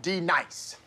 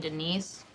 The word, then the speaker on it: Denise: gonna feel my wrath now dee-nice do you mean Denise you say your name right right now Denise say right Denis correctly Denise like Denise right be nice that's better thank you now hey Ron